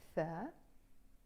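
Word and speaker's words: ث: And this one is our letter Thaa, or The. Okay, so it's Ba, Ta, Tha. Or you can pronounce them B, T, and The. So this is like a th, thunder, the word thunder.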